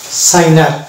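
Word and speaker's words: signer: দিলে এটা হয়ে যাবে সাইনার অর্থাৎ আমরা এটাকে সাইন আর উচ্চারণ করবো এক্ষেত্রেও কিন্তু আমরা জি এ উচ্চারণ করবো না অর্থাৎ জি সাইলেন্স থাকবে নেক্সট চলে যাব এই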